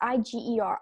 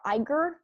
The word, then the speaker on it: Iger: It's Iger. Iger. He's contributed a lot of money to Clinton's presidential campaign. In fact, the maximum allowed, which is $2,700. But on Facebook, Iger, who I believe is the president of Disneyland,